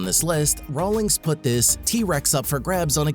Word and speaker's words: TRX: rawlings knows it the 2021 ram trx pronounced t-rex is a massive truck